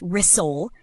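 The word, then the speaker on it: rissole: And the trick is that the S in the middle stays soft, almost like rzole.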